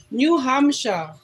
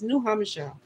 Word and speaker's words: New Hampshire: New Hamsha. Northwoods Press is from New Hamsha. They don't pronounce the R thing, so it's New Hamsha.